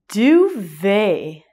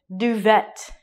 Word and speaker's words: duvet: A cover or a blanket, a duvet. Do what? This word is a French word. So the way that we say it looks very different from the spelling. It looks like duvet.